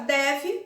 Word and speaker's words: deve: mais aberta térmica e na palavra deve o primeiro é é aberto deve depois eu fecho né a boca e o segundo é fechado então polição der é